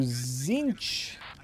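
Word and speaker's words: Tzeentch: It's pronounced Zinch.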